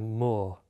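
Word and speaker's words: maw: Now, the moor, the last word of that poem, is spelt M-A-W, as in a mouth, though when you hear it, it sounds equally like moor, M-O-O-R. And I think it wants to be both words.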